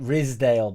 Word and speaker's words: Ridsdale: Or is it Ridsdale? But no, it is Ridsdale, and it's spelled how I say it.